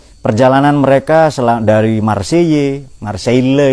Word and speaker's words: Marseille: mereka selang dari marcey marsheilla itu loh marseilles marcey bacanya ke pagi itu perjalanan